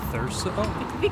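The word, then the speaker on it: Thurso: Before you lighten me up in the comments, I think this town is pronounced Therso.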